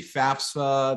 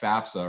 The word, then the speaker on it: FAFSA: I encounter actually say FAFSA they throw an extra s in there but it is correct FAFSA right free application for